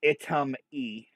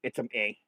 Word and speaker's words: Itzam-Ye: in the last episode it's uh uh itam e or a it some a I believe is how you pronounce it um so we really